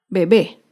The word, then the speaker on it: bebé: es la palabra bebé bebé es una palabra aguda se acentúa en la última sílaba y lleva tilde porque termina en vocal bebé acá vemos otro ejemplo